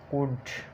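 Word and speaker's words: could: उसके बाद डी, एफ, के या एम से पहले एल साइलेंट होता है।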